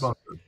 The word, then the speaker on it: Bunkr: us a little about it, and I should spell it Bunkr. So tell us about Yes. Bunker.